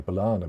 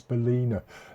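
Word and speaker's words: balena: I always say Balana, but I've just noticed it's Balina.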